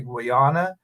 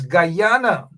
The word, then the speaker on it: Guyana: Some folks say that I say Guana uh and that it is Guyana.